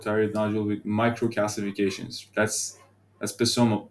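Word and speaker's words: psammoma: That's Pisoma. That's soma bodies. Pronounce the P.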